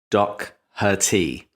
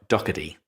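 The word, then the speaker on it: Docherty: David was actually closer to the pronunciation Doc Herty, But yes, in my lazy American, the T sounds like a D. So, Dockady. And he's drinking a Coke Zero and smoking a cigar.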